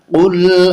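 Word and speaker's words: قُلْ: না scene JC নাস কুল আউযু বিরাব্বিন নাস। কুল, এখানে আমরা যেন কুল না বলি। যদি কুল বলি তাহলে উচ্চারণটা হবে কাপ দিয়ে, কিন্তু এখানে আছে কফ দিয়ে, তাই কফ বলতে হবে।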